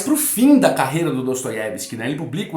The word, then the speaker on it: Dostoiévski: Da Tanto é que eu não falo da Stabsk, eu falo Dostoyevsk, não é? Não tem problema se você quer falar no russo, na pronúncia russa, mas eu vou manter aqui o nosso português Dostoyevski, está ótimo, né?